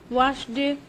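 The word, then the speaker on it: washed: Pronunciation किस तरह से होगी, ये वर्ब्स जिनको हम पढ़ते हैं, cooked, hoped, missed, वॉश्ड, लाफ्ड, वॉश्ड, तो ये वर्ब्स इस तरह से नहीं प्रोनाउंस किए जाते हैं।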